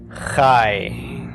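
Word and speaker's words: חי: me in life and it sounds like we're pronouncing this is a long I but in fact it's the Kai's it's called a diphthong it's a combination of the short a with the yes of the yo'd pronounced really quickly ie okay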